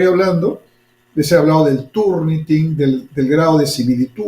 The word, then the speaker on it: Turnitin: y entra a ver Turniting, ¿no? Se escribe así, Turnting con G al final, ¿no?